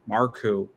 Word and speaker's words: Marku: And her brother, I think Marku, I think, or I don't know if that's how you say it. I'm sure you're going to correct me if I got it wrong. No, Marku, that's right.